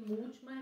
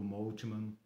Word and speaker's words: Moltmann: E Moltmann é com temudo. Moltmann é com temudo. Moltmann, isso. M-O-L, Moltmann, como nomes alemães, né? Man com 2 N's no final.